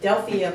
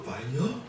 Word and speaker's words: Delphia: So tell me about the Delphia Productions. How did that come about? I see that it started in the church, right? Fire? Did I say it wrong? Fire? It's Delphia.